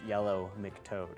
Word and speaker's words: Yellow Mick Toad: And in case you didn't get that, it's Yellow Mick Toad, which happens to rhyme with Yellow Brick Road, but totally different thing.